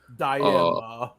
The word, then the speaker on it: Daima: Daima. I love Dragon Ball Daima. That's how Katie pronounces it.